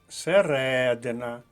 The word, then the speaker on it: середина: з вами завдання далі середина наголос на другому складі друга колонка середина річки